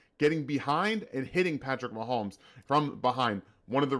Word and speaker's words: Mahomes: said it right the quarterback that is Patrick Mahomes it's great to have all these insane things